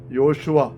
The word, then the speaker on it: യേശു: പാപത്തിൽ നിന്ന് മോചിപ്പിക്കുന്നവൻ, രക്ഷിക്കുന്നവൻ, അതാണ് യേശു, യോശുവ. യാഹ്വേ സേവ്സ് എന്ന വാക്കിൻ്റെ പേര് അർത്ഥം അതാണ്. അപ്പോൾ ഈശോ അത് നമുക്കറിയാം, പൗരസ്ത്യ സുറിയാനി ഭാഷയുടെ ഉച്ചാരണമാണ് ഈശോ. പാശ്ചാത്യ സുറിയാനി ഉച്ചാരണമാണ് യേശു.